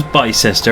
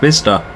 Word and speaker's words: Bicester: you know what I've always thought it was by sister and I kept getting corrected to say no it's pronounced Vista know why I thought it was bitter pronounced